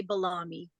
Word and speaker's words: Belle Âme: Lots of people say Belle Âme. I say Belle Âme. Oh, salami. Very fancy. Yes. Salami. Yes. It's like salami, but balami.